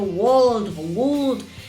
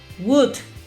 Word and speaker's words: would: Y terminamos diciendo would. No. Este modal, en la fonética, esta O y esta L tienden a desaparecer y la pronunciación es más sencilla. Se dice would.